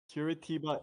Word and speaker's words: Curitiba: you race director oh fantastic how do you pronounce the uh Kurt Cobain International uh I think it's called kiratiba Curitiba International oh that makes in the arm solo